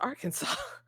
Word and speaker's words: Arkansas: No, it's pronounced Arkansas.